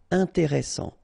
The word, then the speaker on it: intéressant: Double S, same thing here. S, strong, and it opens the pronunciation of your E. Intéressant. Final T not pronounced.